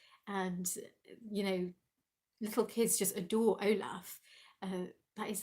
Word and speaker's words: Olaf: They have such a fan base, and little kids just adore Olaf. That is how you pronounce it, Olaf.